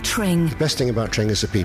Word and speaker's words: Tring: The best thing about Tring is it rhymes with ring.